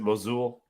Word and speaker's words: Mosul: was in Iraq yes is it mosul how to pronounce it yeah I would say it like that yeah okay so just